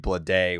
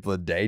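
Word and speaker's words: Bleday: not hear or see the name JJ Blade with it's like it doesn't sound right like his name is JJ like you're missing a syllable idiot yeah yeah JJ BL day B like they just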